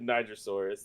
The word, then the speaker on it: Nigersaurus: This is the Nigersaurus. That's how you pronounce that one there.